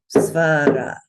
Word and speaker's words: svara: You notice that there are two short sounds in it. So it's svara, svara. No accent.